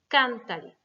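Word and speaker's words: cántale: Donc, pour conserver l'accentuation sur can, il va falloir remettre un accent écrit. Cantale.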